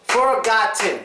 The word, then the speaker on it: forgotten: word is forgotten forgotten let's see how many syllables forgotten three syllables works next one last syllable is